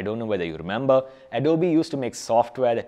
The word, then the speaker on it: Adobe: It's called Adobe, and yes, it's pronounced Adobe, not Adobe.